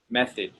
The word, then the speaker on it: method: That word right there, it's pronounced like meth, id, method, okay? Method. I know, I don't understand why there's an O in that word, but you know English, it's crazy.